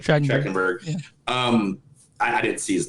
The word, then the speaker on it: Trachtenberg: I read an article about from Dan Thorchenberg or whatever how you pronounce his last name. Trachtenberg.